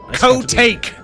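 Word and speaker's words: Kotake: It's pronounced co-take.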